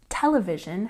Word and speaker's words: television: break it down here television has a stress on the first syllable television television and the next one